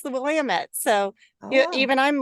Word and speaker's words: Willamette: Willamette River, and I realized I had been mispronouncing it my entire life. I always thought it was the Willamette, and then I got out here and the Oregon natives told me it's the Willamette.